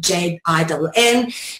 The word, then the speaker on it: jinn: Either spelled with a D-J-G-N or the D-J-I-N-N, J-I-N-N, jinn as in gin and tonic, gon as in dragon, gen as in genetics, or gene or genesis or genius.